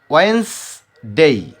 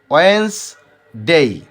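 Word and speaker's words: Wednesday: এখানে ডির উচ্চারণ হবেই না। ওয়েন্সডে, ওয়েন্সডে।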